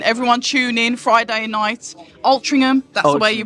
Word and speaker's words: Altrincham: Altrincham, that's the way you pronounce it.